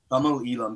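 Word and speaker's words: Tamil Eelam: But Tamil Elam, so it's spelt Tamil, but it's pronounced Tamil.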